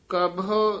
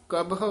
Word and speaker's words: कबहू: चौथा है चंचल मन कौ गह काम क्रोध संग कबहो न बहो। ये कबहो उच्चारण करना, कबहू नहीं कह देना, कबहो कबहो न बहो।